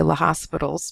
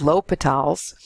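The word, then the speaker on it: L'Hôpital: we're going to take a look at using l'hopital's rules on functions like limits like that so here is a statement of the rule a lot of people say l'hospital's because it looks like the word hospital is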